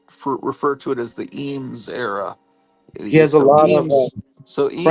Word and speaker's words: Eames: Eames.